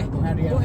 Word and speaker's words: Buhari: Buhari. Buhari. No, I think it's pronounced Buhari.